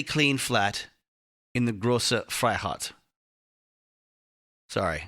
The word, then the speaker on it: Freiheit: flat in the Große Freiheit. Sorry, Americans can't help but go Freiheit Freiheit. It's probably something more aggressive. Freiheit. Freiheit. Yeah, there's no R in there.